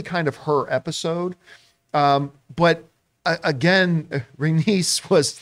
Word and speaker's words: Rhaenys: And by the way, I always mispronounce this. Is it Rhaenys? Rhaenys.